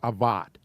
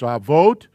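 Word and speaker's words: אבות: And remember, the O is pronounced as an O, not in our English like an ot. That's not avat. It's avot, and it means fathers.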